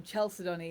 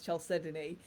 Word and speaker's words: chalcedony: learnt it so um chelsea donny is a great example um there's very few people that pronounce chelsea donnie as chelsea donnie it's normally known as chalcedony and so many people